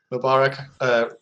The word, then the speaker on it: Mubarak: Mubarak, Ramadan Mubarak.